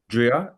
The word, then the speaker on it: Dria: Go ahead, Drew. Dria, is that right? Am I pronouncing your name correct?